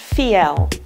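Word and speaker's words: Fiell: is Charlotte vo f ie LL and it's pronounced fee L she's a leading expert on design and has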